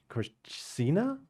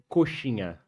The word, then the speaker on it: coxinha: COX Yeah, corsina? coxinha.